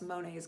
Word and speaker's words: Monet: who told me that you actually pronounce Monet's garden Monet.